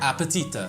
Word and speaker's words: аппетита: appetita, like appetite. Appetite.